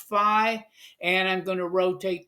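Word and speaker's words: φ: the past I've used the Greek letter F Phi but it's actually pronounced fi and I'm going to rotate this thing around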